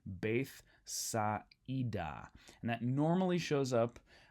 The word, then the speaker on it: Bethsaida: That's telling us that the alpha iota is not a diphthong. Instead, we need to pronounce both of those vowels individually, right? So that's why I'm saying Bethsaida.